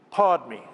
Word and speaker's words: Padme: Technically, you pronounce it a little bit differently, but let's just go with cash. So Om, money. Padme is probably the hardest word of the lot.